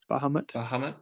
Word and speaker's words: Bahamut: Bahamut.